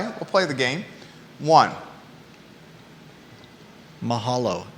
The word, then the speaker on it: Mahalo: Hawaii reference Mahala you mean Mahala M you Mahalo come again Mahal okay you said it right